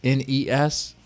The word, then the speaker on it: NES: NES and SNES and if you pronounced an S you're not a gamer okay it's in ES it's an acronym it's